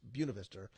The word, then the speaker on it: Buena Vista: like I always Buena Vista University it's not it's spelled the same way the point of histo but it's Buena Vista Amanda barn I know we have a call